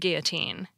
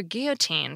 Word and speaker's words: guillotine: L now let's consider Guillotine from French most English speakers pronounce the two L's like a y as it is in French too but not all English